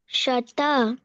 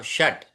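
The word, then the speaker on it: षट्: चारी चवारी चतारी पंच शत षट ट में ट पूरा नहीं है तो षट षट सत्र सप्त सप्त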